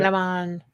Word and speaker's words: Lomond: It was Loch Lomond, or Lomond, how do you say it? Lomond.